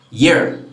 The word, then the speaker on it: year: the same way and actually this word is pronounced year year happy new year what yes so these